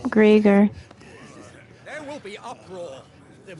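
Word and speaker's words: Greagor: This is the will of great Griger. I was pronouncing that wrong, too. Greger.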